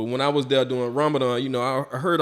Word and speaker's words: Ramadan: up going there doing Raman what did I say it right yeah Ramadan Ramadan my bad I went there doing